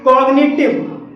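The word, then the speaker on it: cognitive: चौथा हमारा अपवाद है कॉग्निटिव, कॉग्निटिव में जी के बाद एन आया है और यहाँ पर भी जी साइलेंट नहीं है।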